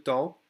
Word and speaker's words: temps: We don't say the PS.